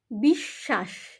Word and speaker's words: বিশ্ব: করছি দুটো সপরে দেখো বিশ্বাস এখানেও দুটো স এর উচ্চারণ হচ্ছে বিশ্বাদ এখানেও তাই একই প্রক্রিয়া দীপ্ত উচ্চারণ হচ্ছে ব ফলার উচ্চারণ হচ্ছে না বিশ্ব এখানেও দুটো তালিব্য উচ্চারণ হচ্ছে অশ্ব এখানেও তাই অ তালিব্যবসয়